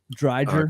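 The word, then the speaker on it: Driedger: The goaltender playing tonight, how do you pronounce his name again? Dreiger.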